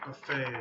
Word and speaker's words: buffet: The third word is buffet, buffet, okay? So here's buffet. Now, there is a second pronunciation if it's a verb, okay?